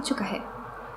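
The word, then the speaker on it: 축하해: Ciukahe, no bo tak to się wymawia. Ciukahe. To jest podobna zasada, co wcześniej rzekł. I hy łączy się w ky przydechowe. Będę to powtarzać, bo ludzie często o tym zapominają.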